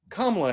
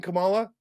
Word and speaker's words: Kamala: guys by the way it's kamla Harris but for all of you saying Kamala I love you anyway as long as you're saying it right and you know what